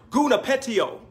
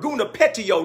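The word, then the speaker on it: γονυπετέω: kneel it is a Greek word that is pronounced guna petiole yeah the Greek word guna pet tio kneel down from where we get our English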